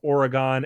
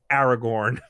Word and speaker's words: Oregon: from 15 years ago i heard one guy pronounce oregon as aragorn oh that is very wrong yeah i'm aware that